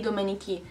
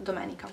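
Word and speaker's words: domenica: the pronunciation by and I do hear some of you going like sabadie dominici no no sabato Dominica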